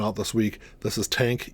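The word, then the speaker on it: TANGK: this week this is tank even though it doesn't look like tank that's how it's pronounced I know it's got a g in there there's a whole story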